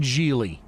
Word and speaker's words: Gigli: I have not seen Gigli.